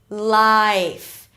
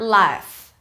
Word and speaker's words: life: I, life. It's not life. It's not ah, right? It's I.